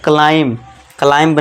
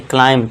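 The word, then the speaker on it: climb: बोलते हैं ना, हिल क्लाइंब रेसिंग, तो गेम भी है। तो इसे आप क्या पढ़ना है, क्लाइंब नहीं, क्लाइंब। क्यों? क्योंकि एम के बाद बी है तो यहाँ बी साइलेंट हो जाएगा।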